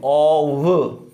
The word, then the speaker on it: of: देखो ओ double एफ जो है उसका प्रोनाउंसिएशन होगा ऑफ। ओ डबल एफ का प्रोनाउंसिएशन होता है ऑफ, और ओ एफ का प्रोनाउंसिएशन होता है ऑव। ठीक है। देखो ओ एफ जो है उसका प्रोनाउंसिएशन क्या होगा, ओ वे, इसमें वे है, जबकि ओ डबल एफ को क्या बोलेंगे, ऑफ।